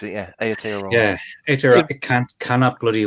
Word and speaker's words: Aotearoa: that's how I pronounce it. Yeah, Aotearoa.